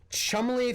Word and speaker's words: Cholmondeley: Chumley Fanshawe is spelled Cholmondeley Featherstonehaw. Because British aristocrats, to be quite honest.